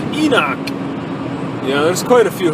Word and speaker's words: Enoch: Come on down to Enoch. Maybe they want to like make it sound more sophisticated by saying Enosh. I like Enoch.